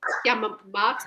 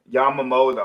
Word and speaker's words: Yamamoto: Yamamat. yeah. Yamamoto.